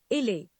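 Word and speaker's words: isle: The next word is you may be pronouncing it Eisuhal or Eisuhal. Its correct pronunciation is Ile.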